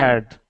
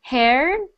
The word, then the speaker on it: heard: Just make sure that you get that D sound. The pronunciation I heard before was something like haired or haired. So I want it to be that sound.